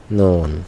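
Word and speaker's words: ن: এটা হলো ফাইনাল, শেষ অবস্থা, নুন। মাশাআল্লাহ, আমরা চিনতে পারলাম। আমরা এখন জবর দিয়ে একটু উচ্চারণ শিখে ফেলি।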